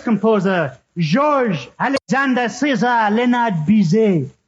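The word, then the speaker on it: Bizet: by the famous composer George Alexander Cesar leard Biz how do you spell it uh c a r m n George bizay was born in 1853 and died in Oblivion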